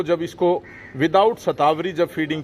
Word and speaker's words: शतावरी: के पास आए तो यह सतावर है शतावरी इसको हिंदी में इसका उच्चारण करते हैं और यह देखें यहां